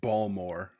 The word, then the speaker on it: Baltimore: Last week I went to Baltimore. I had to go to a festival. I went to Baltimore. Gotta say, it's pronounced Balmore.